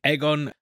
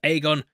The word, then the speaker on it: Aegon: Also, they keep saying Aegon. I've always thought it was Aegon, but I will be following the pronunciation in the series and just saying Aegon, even if it doesn't sound as cool, because it just reminds you of a big egg.